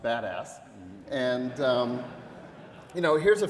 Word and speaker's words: BDAS: BDA as many of you know that it's pronounced badass and you know here's a few of the